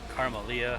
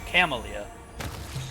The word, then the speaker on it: Camellia: of it that's fine camellia carmelia however you pronounce it i have to figure it camalia yeah there's no r in there all right more loot